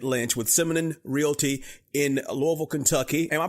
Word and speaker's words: Louisville: talking to David Lynch with Simon realy in Louisville Kentucky am I pronouncing it right David Louisville that is correct you got it I could